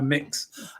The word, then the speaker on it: Mx: you do immediately when how do you pronounce MX? It's one of the questions I'm constantly asked, because I use the title MX very often now, mix, and of course we've